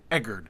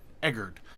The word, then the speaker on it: Egard: I have said Egard in previous videos, but I believe it is pronounced Egard, kind of like Edgar, but Egard.